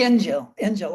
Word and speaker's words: Injil: Injil? What? Is it the Injil? The Injil. I always mispronounce it.